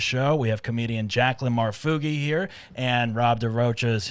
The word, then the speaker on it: Marfuggi: We have comedian Jaclyn Marfuggi here, and Rob DeRocha is here as well as always.